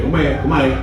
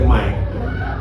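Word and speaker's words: Khmer: Yang satu ya kemai kita ngomongnya kem bacanya kemai.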